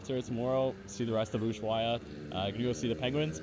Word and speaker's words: Ushuaia: it is in fact Ushuaia, which makes sense. In the case of things like helado, you don't actually say the H, you just say helado, which would make Ushuaia, not Ushuaia.